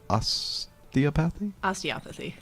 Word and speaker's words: osteopathy: Osteopathy? Osteopathy. Gosh darn Very it. close. I always mess that up. It's the emphasis on the other syllable.